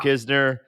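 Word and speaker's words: Knizner: like I mean we're people are still saying it wrong I mean Jimmy Jimmy Crooks like you know why why would kizner the in it's in the wrong place from how you say it you know there's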